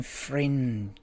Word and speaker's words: Frijns: I think he's Dutch, called Robin Friends. It's spelled in a weird way. It's like FRIJNS.